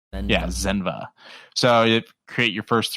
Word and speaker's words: Zenva: Zenva. Yeah, Zenva.